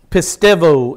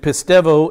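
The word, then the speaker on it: πιστεύω: the word is pistuo pistevo is how the greeks would pronounce it pistevo it it's um in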